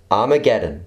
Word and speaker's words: Armageddon: pronounced in greek hama Geddon or as we pronounce it today Armageddon from the apocalyptic Battle of Armageddon in Revelation